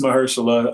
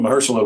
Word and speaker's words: Mahershala: you did true detective with uh is it pronounced mahershala i was googling this i was really stressed about it i believe it's mahershala and folks i think uh call him hirsch